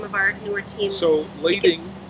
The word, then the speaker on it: lading: our newer teams so lading is spelled l-a-d-i-n-g lady not landing l-a-d-i-n-g okay all right that's